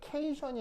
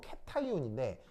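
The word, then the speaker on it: cation: 케이션이 아니고 캐타이온인데, 캐타이온은 양이온이라는 뜻입니다. 원래는 캐소딕 아이언 이런 말인데 이걸 줄여서 캐타이온이라고 쓴 겁니다. 무슨 말인지 알겠어요? 그래서 발음이 케이션이 아니고 캐소딕 아이온을 줄여서 캐타이온이라고 쓰는 겁니다.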